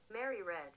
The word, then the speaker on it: Mary Read: how to pronounce it how do i pronounce her name mary reed or mary red how do you pronounce your name oh mary read some of these ladies